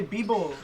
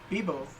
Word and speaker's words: vivo: Bibo. Well, it's spelled V-I-V-O, but it's pronounced Bibo.